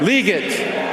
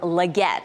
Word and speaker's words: Legette: Carolina Panthers select Xavier leate wide receiver South Carolina that was NFL commissioner Roger Goodell with a hard time pronouncing the name it's actually Xavier Legette think Panthers get Legette